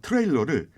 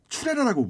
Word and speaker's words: 트레일러: 나사를 죄는 드라이버를 도라이버라고 하고 있고 화물칸을 꼬리처럼 연결하는 화물차 트레일러를 추레라라고 부릅니다. 일본어는 우리말처럼 발음이 다양하지 않아요.